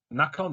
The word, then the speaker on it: Nacon: and this is uh published by nacon or nikon however you want to pronounce it i believe it's using